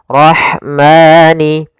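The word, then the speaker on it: الرَّحْمَٰن: Alif lam yang ditulis tapi tidak dibaca langsung ke huruf ro yang bertasydid. Dan ro di sini ro tafkhim. Rnya harus dibaca dengan tebal. Ro ro tafkhim. Ro tebal. Kemudian pada lafal rah ada huruf ha yang memiliki sifat hames yaitu harus ada jaryanun nafas harus ada mengalirnya nafas kita rah rahmani.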